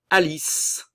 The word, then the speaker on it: Alice: Alice, le E final ne se prononce pas.